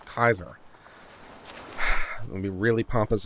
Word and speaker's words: Caesar: supposed to be pronounced it's not caesar it's kaiser i'm gonna be really